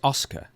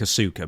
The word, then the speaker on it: Asuka: It's It's almost like Oscar, but it's Oscar. Oscar. Okay. But it is it reads like a suka but it's Oscar.